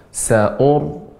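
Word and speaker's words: سَأُرْهِقُهُ: Sa'urhiquhu sa'uda. Sebentar Ibu. Ra yang sukun sebelumnya dhammah, sa'ur ini baca dengan tebal. Sa'ur. Monyong kembali lagi. Sa'ur. Ur. Adapun tipis dia dibuka rahangnya. Sa'ur. Ur. Nah, ini tipis.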